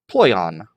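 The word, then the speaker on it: πλοῖον: Then it has a easier pronunciation help, ploion. Ploion.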